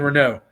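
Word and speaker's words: Reneau: marion marion rene marion renault the lizzie and brawler i keep wanting to call her marion just based on the way it's spelled so thank you for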